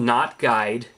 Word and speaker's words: Knot Guide: so uh it's called not guide kot in case you forgot that the K is silent um but uh$ 3.99